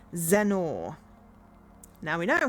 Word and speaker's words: Zennor: I've always thought of Zennor as a funny name. It sounds like Lenore. Ah, Zennor.